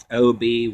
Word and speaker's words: Obyzuth: But a female demon with long bedeviled hair called, how do you pronounce this? Obyzuth. O-B-Y-Z-U-T-H.